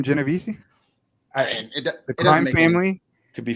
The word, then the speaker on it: Genovese: He said it was Genovese, not Genovese.